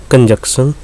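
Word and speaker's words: conjunction: देखो इन सब को प्रोनाउंसिएशन में जो एक वैलिड ज़्यादा माना जाता है वो देखो, ये जो इसमें कंजक्शन है, इसमें सी साइलेंट आप रखोगे, कंजंक्शन, कंजंक्शन ऐसे बोल सकते हो।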